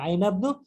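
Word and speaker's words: أين ابن: পুত্র কোথায়, আইনা ইবনু, এখানে হামজাতুল ওয়াসলের জন্য উচ্চারণ হচ্ছে না, আইনা ইবনু একসাথে উচ্চারণ হবে, আইনা ইবনু হামিদিন, এবং মুদাফ ইলাইহি জের হয়ে যাচ্ছে।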